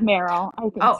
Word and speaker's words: Merrell: Merrell? Merrell. That's another really good one. Yeah, I think it's Merrell. Yeah. It's Merrell.